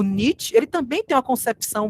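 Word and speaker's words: Nietzsche: né friederich niet né Friedrich niet é assim que se pronuncia melhor esse cara é uma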